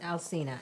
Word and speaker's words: Alcina: Alcina, yeah.